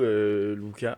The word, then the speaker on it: Lucas: et du coup, Lucas, on dit Lucas ou Lucas? Alors, ça s'écrit avec un U, mais ça Ouais. se prononce Luca.